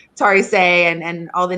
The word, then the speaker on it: Tarisai: But It is Tarisai.